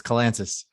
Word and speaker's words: Kalantzis: everybody messes up it's kalansis kalantis gotcha uh like atlantis right okay with the k i i can do